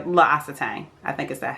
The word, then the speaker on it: L'Occitane: the Amande shower gel from, let me say, L'Occitane. I think is that how you pronounce it. That's how you pronounce it. L'Occitane.